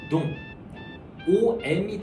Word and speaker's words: Dom: 경우에도 놈이 아니라 프랑스로는 농이 들어가는 순간 프랑스에서 이제 웅 발음이 되는게 맞기 때문에 빼용 요렇게 발음하시는게 올바른 발음이죠. 이게 원래 DOM으로 써 있다 보니까 많은 사람들이 놈페린용이라고 발음을 만나시는데 실제는 놈이 아니고 농입니다.